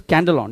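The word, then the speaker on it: σκάνδαλον: The pronunciation is scandalon, yes.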